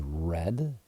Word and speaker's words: read: uh past tense is red pronounced as the color red um even though it's